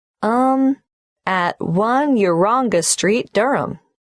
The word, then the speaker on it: Durham: at one uranga street durham how do you spell durham d-u-r-h of course i should know that but it's just one of those names that sounds quite different from the way you spell it it is confusing i've